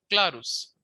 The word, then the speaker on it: clarus: Let's take an example of clarus. Clarus the accent is on cla that is the first syllable.